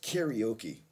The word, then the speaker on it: karaoke: It's karaoke.